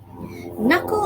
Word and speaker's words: knuckle: this is a knuckle knuckle is spelled us if you have noticed it not all the words were red the first letter k wasn't red at all c and k were